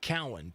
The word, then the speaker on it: Cowan: So Dan is Cowan. Dan Cowan. That is how you say his name.